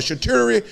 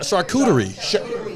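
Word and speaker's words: charcuterie: What do you call a chhaturi? No, it's a chhatur. What? What? We grew up in the hood. We don't know. With the cheese board messing, we be messing that word. Can somebody say it right so I don't get fired? Shakuterie. Shakurerie boy. That's how I say.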